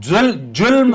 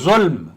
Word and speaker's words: ظلم: جی تو جلم جی اور جی ظلم یہ فرق ہے، جی ظہر اور جوہر میں فرق ہے. تو اس طرح سے جی آپ تھوڑا سا تلفظ صحیح کرنے کی کوشش کریں.